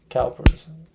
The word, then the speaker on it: Cowper's: How do you say that? Cowper's. Like cow, right?